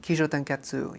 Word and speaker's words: Kishōtenketsu: I'm going to pronounce it incorrectly, I'm sure. Kisho tenetsu. Yeah. Kotenetsu.